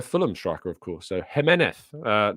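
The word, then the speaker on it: Giménez: um as the Fulham striker of course so jeneth not Jimenez um so let's make sure we got our pronunciations correct on that um proper Med says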